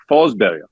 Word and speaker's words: Forsberg: Peter Forsberg in Swedish is actually Forsberg.